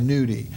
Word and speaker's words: gnudi: It's not really, I'm emphasizing, it's spelled Gnudi, nudi.